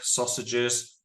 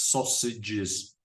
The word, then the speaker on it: sausages: Like water, milk, sausages. Also, the pronunciation of these words, sausages. The AGES is pronounced ij, sausage.